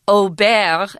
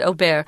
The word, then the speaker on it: Aubert: Archangel Michael commanded Saint Aubert, and that's how you say it in French. It looks like Aubert, but it's not Aubert.